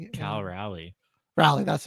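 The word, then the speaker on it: Raleigh: Cal Rally.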